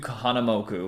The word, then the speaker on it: Kahanamoku: okay so it's Duke kamam moku yeah Duke Kahanamoku Kahanamoku Kahanamoku and he is quite an icon